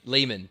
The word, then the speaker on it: Lehmann: let's get we're rolling how do you say your last name lman lman lemman simple yeah yeah thank you